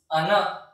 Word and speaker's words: 穴: Kun reading of this kanji is ana.